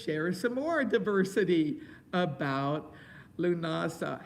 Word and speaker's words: Lughnasadh: some more diversity about lunasah how do you spell it l u g h that's lou nasa n a s a that's one way and some add a d and an h on it a modern version is